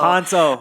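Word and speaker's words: Kpanto: Oh my gosh, it's Panto, y'all. Panto. The K is silent.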